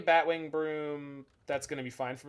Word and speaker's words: Brume: we playing chess i i said broom baby it is spelled b-r-u-m-e broom baby i joined a few